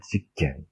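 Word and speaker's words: 事件: 다 지로 발음이 되죠. 직겐, 직고.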